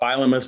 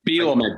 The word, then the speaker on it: Bielema: I want to congratulate him on Brett Bielema's performance on Saturday. They beat up Nebraska Cornhuskers. You're mispronouncing his name again. You're mispronouncing his name. It's Bielema, damn it.